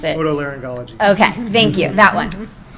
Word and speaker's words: otolaryngology: specializing in, I'm sorry, Rod, how do you pronounce it? Otolaryngology.